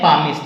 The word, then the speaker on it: palmist: सुनिएगा दोस्तों, इसको कहते हैं पामिस्ट। यहाँ पाल नहीं कहेंगे, पामिस्ट, L साइलेंट है।